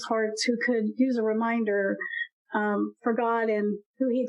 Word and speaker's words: Remind Her: So I actually even wasn't sure how I wanted to pronounce it, but I found myself just saying the Reminder podcast. And then the H is just kind of inserted in there.